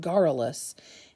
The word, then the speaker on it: garrulous: okay so I looked it up and it's pronounced garrulous and it means as excessive talking so if